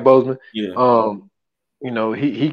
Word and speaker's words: Boseman: um um ban yeah I said it right Boseman um you know he he kept cancel quiet